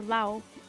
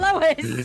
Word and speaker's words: Laos: It's Laos or Lao. It's spelled Laos, but pronounced Lao. Hey, Lois. And not Lois.